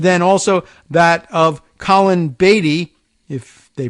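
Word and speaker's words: Beattie: party position but then also that of Colin Beatty if they pronounce it that way b-e-a-t-t-i-e it's former Treasurer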